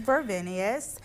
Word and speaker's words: Vervenius: The name of the brand is Vervenius and Vervenius is not only a fashion brand